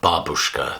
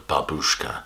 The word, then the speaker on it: babushka: word for grandmother is babushka the stress is on the first syllable rather than babushka and the excellent cover